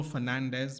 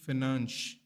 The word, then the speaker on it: Fernandes: It's not Bruno Fernandez because he's not Hispanic or he's not Latin American. It's Bruno Fernandes.